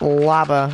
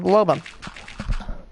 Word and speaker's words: Loba: My friend pronounces it lava. Like, go to Google. I hit Google Translate and it said Loba.